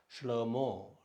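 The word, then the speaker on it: שלמה: ஹே கடைசியில் வந்தால் உச்சரிக்கப்படாது. ஷ்லோமோ, ஷ்லோமோ, ஷ்லோமோ.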